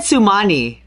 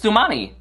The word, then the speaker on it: Xunami: You said Sumani. Isn't it? It's Xunami. It's Xunami. Xunami.